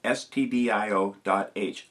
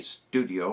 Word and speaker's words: stdio.h: The C language uses #include open angle bracket stdio.h close angle bracket. That's stdio.h. Just spell it out. It stands for standard I/O. Don't say studio or somebody's going to think you're making movies.